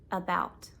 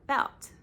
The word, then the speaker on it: about: About. It's the second part, about. You wouldn't say about. You say about. Is 1 syllable and about is 1 syllable, but is just shorter and it's not stressed.